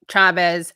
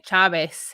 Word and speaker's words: Chavez: like when people call chavez chavez it's like it's not it's just chavez i mean you can say in chaves in a spanish accent but it doesn't change the ch sound or where which syllable is accented anyway so again thank you